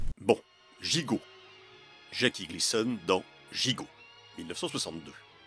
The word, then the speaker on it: Gigot: Bon, Gigo, Jackie Glisson dans Gigo, 1962. Et Gigo, ça doit bien se prononcer Gigo. Gig Gigo et pas Jot par exemple.